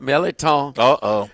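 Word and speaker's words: mirliton: Stuffed Meliton. It's spelled Merliton. Oh, no.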